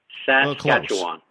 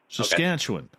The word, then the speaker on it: Saskatchewan: it first you got to learn how to pronounce it saskatchewan saskatchewan saskatchewan yesterday saskatchewan okay got it yes so i